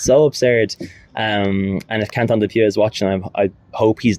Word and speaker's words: Quentin Dupieux: full day with this film, is Dali by Quentin Dupieux. Is that how you say it? Quentin Dupieux, yeah.